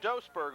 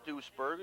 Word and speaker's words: Duisburg: they spot the ball we've been saying dos Berg all night but it is deuce Purvi at least according to